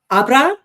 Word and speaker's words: Abra: that she does at Abra, the accent is on the second one, right?